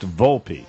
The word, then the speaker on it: Volpe: But it says, and finally, the Volpe, pronounced Volpe.